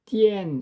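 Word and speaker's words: 天: 자, 유교의 신학적에 신관 최고신 개념의 하늘이 있어요.이 이 하늘을 띠엔 이렇게 발음을 하는데 그리고 귀신의 존재와 귀신의 덕도 인정을 하면서 중용해 보면 말이죠.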